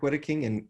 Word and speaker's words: Wedeking: And Brian, can you tell us, is it, I want to get the pronunciation, is it Wedeking, Father Wedeking? That's right, Father Wedeking from Shiprock, New Mexico.